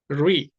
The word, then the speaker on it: ऋ: री वास्तव में इसका उच्चारण रा की तरह नहीं होता। रा में क्या होता है? जीभ ज्यादा वाइब्रेट करती है। रा री जब हम बोलते हैं उसमें वाइब्रेशन नहीं आता है।